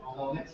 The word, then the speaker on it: Ptolemy: Ptolemy.